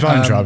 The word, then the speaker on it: Weintraub: none of that would become a script until producer Jerry Weintraub, don't know how you pronounce Traub? it. Weintraub? Weintraub. It's Weintraub, and it's German as hell, that name.